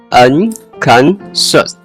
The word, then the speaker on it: unconscious: Unconscious. You're getting closer. The ending should sound like shoes with a sh sound, not a hard s or z. Let's try pronouncing just that word together. Unconscious.